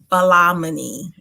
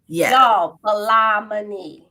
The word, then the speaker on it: Ballah-Moni: messing up their first name y'all yes it's pronounced balaamini balamani don't don't don't fool with me y'all today